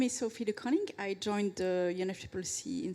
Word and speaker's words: De Coning: much uh so yes my name is Sophie De coning I joined the unfc in September um I